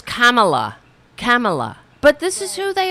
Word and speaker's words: Kamala: What does he call it? Kamala? Oh, yeah, that was great. Her name is Kamala.